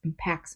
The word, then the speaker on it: impact: and sound alike sometimes the verb form is pronounced a little differently with the accent the stress on the second syllable so people will say this impacts me you can say